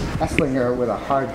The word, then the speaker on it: Esslinger: had this whole conversation whether the G was a hard G or a soft G it's eslinger with a hard G